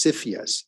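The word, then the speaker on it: CFIUS: the body Administration I is cypheus um or usually it's pronounced that way with the the acronym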